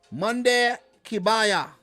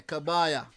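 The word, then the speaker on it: Kebaier: So let me just pull up the Tunisian page in the backdrop here, and yeah, Monday Kabaya, say his name properly. You know, not spelt right there. Kabaya.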